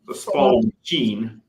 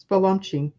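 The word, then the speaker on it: Spallumcheen: and again, help me, Peter, if I can't pronounce this, the Spalmachine. Spalumching.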